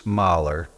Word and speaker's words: Mullye: my grandfather petus merer which is how mui is pronounced in Flemish um was born in 1885